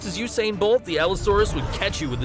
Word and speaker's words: Allosaurus: He just said it and you still pronounce it wrong. Allosaurus.